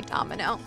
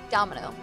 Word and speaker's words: Domino: me i'm domino domino i should just say domino that's you know how you pronounce it domino the may of mikka